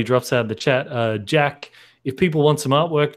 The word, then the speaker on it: Geahk: Jack is spelled Geahk, which is an unusual spelling.